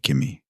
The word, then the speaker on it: Qimi: We just walked through your pitch deck for Kimi, which I should point out is spelled Qimi, in case folks are trying to look it up.